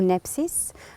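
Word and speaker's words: νῆψις: terme grec qui s'appelle qui se dit nipsis ou nepsis avec la prononciation française alors en même temps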